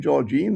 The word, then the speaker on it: Georgine: So some were and we didn't mention Georgine, is how you pronounce her name, who's also introduced at a